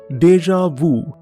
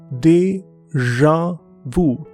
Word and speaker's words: déjà vu: The first word is déjà vu. This is from French language and the pronunciation is déjà vu. Déjà vu. It's a strange kind of sound that we don't have in Hindi and Punjabi.